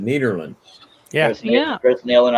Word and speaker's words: Nederland: is nederland and uh that's the netherlands and i talked to some people from the netherlands and they said that's exactly how we pronounce it nederland yeah yeah that's neil